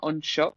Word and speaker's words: Anseo: So confusingly, my online presence is Unshook, and that's SHAUNA.ANSEO, which is Irish, and it does not sound like it's spelled.